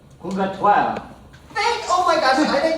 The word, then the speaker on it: Purgatoire: How do you say this? If you're speaking in French. Purgatoire.